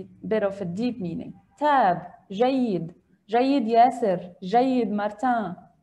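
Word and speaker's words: تاب: Tab. Perfect. Tab. Tab. Jayid. Tab. Just like the English word tab in the computer, tab, tabs. Okay. Perfect. Tab. And it is a verb, and we can also pronounce it taba.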